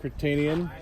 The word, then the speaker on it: Kertenian: This is Kertenian.